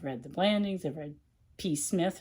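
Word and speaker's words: Psmith: Wodehouse, and I've read Jeeves and Wooster, I've read The Blandings, I've read P. Smith, or whatever, the P is silent.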